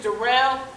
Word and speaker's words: Darrell: Yeah, my name is Darrell. It's spelled like Daryl, but it's pronounced Darrell.